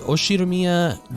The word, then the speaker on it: Ushiromiya: His name is pronounced USHIROMIYA George.